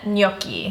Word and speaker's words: gnocchi: So today we are putting together pumpkin gnocchi.